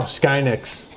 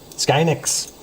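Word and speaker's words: SK hynix: Skynix. Sky. That's how I pronounce it. Skynix because it's like Skynet.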